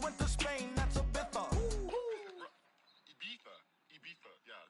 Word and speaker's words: Ibiza: I just went to Spain, that's a Ibiza. Yeah, it's pronounced Ibiza, actually.